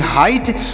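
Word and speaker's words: height: जी एच टी से ट पढ़ेंगे तोसे पढ़ेंगे हाइट हाइट मतलब क्या होता है ऊंचाई होता है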